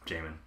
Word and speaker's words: Jamin: done that before but that totally makes sense Jamin hello Jamin thanks for joining in uh-huh Josh's dulcet tones in the background while I work to relax me and I'll be speaking your name Jamin did I know how to pronounce now after